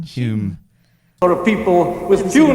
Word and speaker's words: Home: Maybe it's Home? just a posh way of saying Hume.